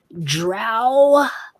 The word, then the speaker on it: drow: We call them dro, down here. But I hear you, you lighter-footed folk up above the ground. You call them drow.